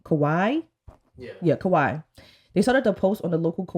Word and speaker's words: Kauai: The specific place they were in were, I don't want to pronounce it wrong, Kauai? Yeah, Kauai.